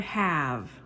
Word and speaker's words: have: When you say I, we, you, or they, you use the word have. Have. So the E is silent.